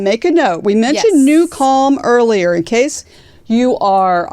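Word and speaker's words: NuCalm: this in mind make a note we mentioned new calm earlier in case you are on the podcast and you're just listening it is spelled n u c l m it is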